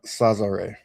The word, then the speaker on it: Sazare: Yeah, so it's pronounced Sazare.